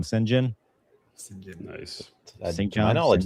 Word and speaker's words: St. John: And his brother's name's spelled St. John, but nobody knows how to say St. John, so they all call him Sinjin.